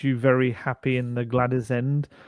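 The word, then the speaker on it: Gwladys: very happy in the Glad Is end is that how you pronounce it glad is it's got a w in it isn't it i' never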